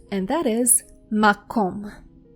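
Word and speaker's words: מקום: Now, the next word is easier to pronounce and that is mcom. M. Makom means place.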